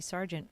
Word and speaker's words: Sergeant: name is Sargent like isn't peggy lee and sergeant like the army ser geant and even if you